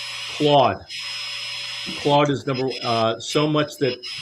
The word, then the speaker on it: Claude: Claude is exactly how it's pronounced.